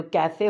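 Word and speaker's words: café: जैसे कि जो कैफ़े होता है ना इंग्लिश में, उसको हम स्पेनिश में काफ़े बोलते हैं। तो काफ़े में ए की आवाज़ आ रही, काफ़े।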